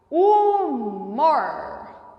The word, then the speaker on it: humor: nelas então vamos pronunciar humor humor o h não tem som em língua portuguesa quando as palavras começam